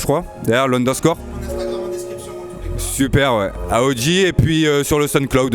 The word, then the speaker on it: Ahoji: Yes, il y a un Instagram, alors moi c'est AOJ, ça s'écrit A-H-O-J-I, avec un petit, c'est le petit tiré du 9 je crois, derrière l'underscore. Super, ouais. AOJ et puis sur le